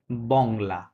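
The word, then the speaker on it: Bangla: এস ও sorry বাংলা এটুকুই হবে কি হবে বাংলা ঠিক আছে বাংলা তহলে য পাগল বংলা বলবেন বাংলা এটা উচ্চারণ হবে কারণয লাস্টে কি থাকলে ভাউলের চারটা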